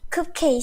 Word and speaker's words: cupcake: cupcake, sir. Cupcake. Oh, cupcake. Okay. Yeah, yeah. It's that pronunciation, Fuang.